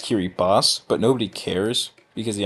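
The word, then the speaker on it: Kiribati: Europe like Paris London Poland banana it's actually pronounced Kiri boss but nobody cares because the island is seeking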